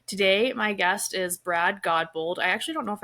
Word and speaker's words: Godbold: Today, my guest is Brad Godbold.